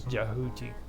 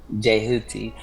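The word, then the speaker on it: Djehuti: Yeah, the D is silent. It's Jehuti. Jehuti.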